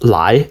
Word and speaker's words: 来: A good example of this is this character (来), pronounced lái in Mandarin, which looks like this in Traditional Chinese (來) and like this in the Oracle Bone Script, 甲骨文: (來 , n.d.)